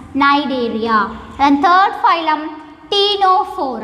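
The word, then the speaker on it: Cnidaria: it is also called nidaria here the first letter C is somewhat silent so we have to pronounce it as Nigeria then third phylum Pinot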